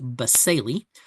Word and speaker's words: basale: you see right here, which is the stratum baseli. And you see it's spelled B A S A L E, but it's pronounced baseli. Uh the stratum baseli is the uh bottom layer of the epidermis.